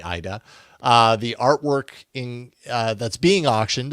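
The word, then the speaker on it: Ai-Da: The artist that you see here is named, is it Aida or Ida? I mean, it's spelled Aida, so probably Ida.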